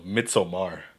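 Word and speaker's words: Midsommar: so pretentious florence pew no mitzomar that's how you pronounce it mitch hummer shut up it's been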